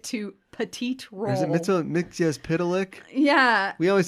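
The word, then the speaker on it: Mxyzptlk: Is it Mixias Pitalik? Yeah. We always said Mitzelplick when I was growing up. Piddle? And then I learned it was Mixias Pitalik. But I still hear Mitzel Dick, which sounds a little more fun.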